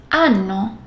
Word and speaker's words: hanno: And yes, H, H is silent. Io, ho, tu, hai, lui, lei, ha, noi abbiamo, voi avete, loro hanno.